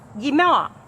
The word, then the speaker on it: Guimard: You do not pronounce the D. Guimaer.